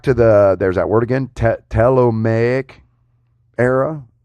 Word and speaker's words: Ptolemaic: It dates back to there's that word again, Ptolemaic era. I bet the P is silent on that.